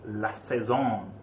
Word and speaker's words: La Saison: La Saison. Am I saying that correctly? As far as I'm aware, yes.